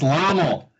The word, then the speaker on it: Lommel: Is it Lommel or is it Lommel? It's Lommel. All right, it is Lommel.